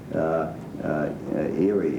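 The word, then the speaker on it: Éire: Also, the British, as I understand it, don't recognize Erie, if that's the way they pronounce it in Ireland.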